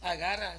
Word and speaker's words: Agar: ¿Cómo se dice Hagar? Agarra, sí lo dije bien, ¿verdad? Nomás me dudé yo mismo, hermanos.